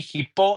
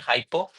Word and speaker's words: hippo: Actually, it should be hippo, not hypo.